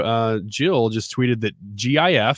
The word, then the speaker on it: GIF: jill just tweeted that gif stands for graphical interchange format so it's a hard g good graphic it's not giraffic carlo on facebook says